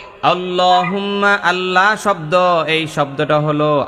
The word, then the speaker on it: আল্লাহ: পরিমাণ টান দিবেন আল্লাহ বলেন সবাই আল্লাহ আল্লাহ আল্লাহ শব্দের লামটা মোটা করবেন কারণ আল্লাহ শব্দের ডাইনে জবর আছে না নাই আল্লাহ বলেন সবাই